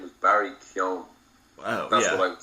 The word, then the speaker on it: Keoghan: His name is Barry Keoghan.